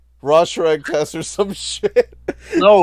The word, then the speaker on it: Rorschach: It's Rorschach. Rorschach? Fuck, I don't care pronunciations. It's Rorschach.